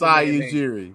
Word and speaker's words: Masai Ujiri: Masai Ujiri. That's what Masai Is that how you say it? I don't want to mess it Masai Ujiri.